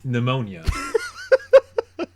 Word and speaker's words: pneumonia: The chipmunk has pneumonia. So, yeah, it's the chipmunk has pneumonia. What's great is that, like, pneumonia is a tough word, like just on paper. Yeah, like, it's got silent letters and it's not.